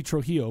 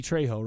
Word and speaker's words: Trejo: He called him Danny Trujillo, but it's Danny Trejo, right?